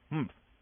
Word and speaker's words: humph: "Humph," said the sand fairy. If you're reading this story aloud, please pronounce humph exactly as it is spelt, for that is how he said it.